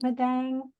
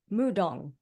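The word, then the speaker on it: 무당: Is it Madang? Is that how you say it? I forgot. Mudong.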